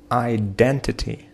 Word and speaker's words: identity: Identity. Identity. Identity. Нет. Identity. Identity. Identity. So we have the second syllable, which is stressed.